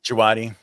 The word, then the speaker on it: Djawadi: Djawadi.